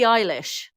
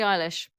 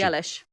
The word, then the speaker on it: Eilish: to say her name billy eilish i think he's pretty eyelash isn't it really eilish i always want to say billy ellis and obviously keep